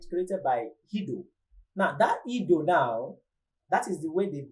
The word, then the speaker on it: Guido: It was created by somebody, Guido van Rossum.